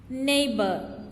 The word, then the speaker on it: neighbor: Neighbor. Here GH is silent.